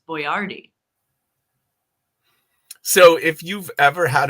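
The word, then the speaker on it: Boyardee: a little bit like Chef Boyard who we just found out the proper pronunciation of is boardi so if you've ever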